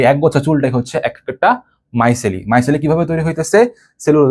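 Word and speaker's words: micelle: এই বান্ডেলটাকে বলে হচ্ছে মাইসলি। এম আই সিই ডবল এলই। এটার বাংলা উচ্চারণ হচ্ছে মাই সেলি।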